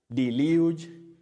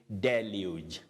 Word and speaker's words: deluge: do you say it if you said the large Deluge no you say Deluge Deluge so the first e takes the sound a what we call the